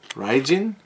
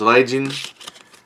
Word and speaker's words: Raijin: Then you have here Raijin. Yep, there's Raijin. If you do the R-I-A, Rai, or sometimes in Japanese pronunciation the R is like an L, so Raijin, or you just kind of blend it.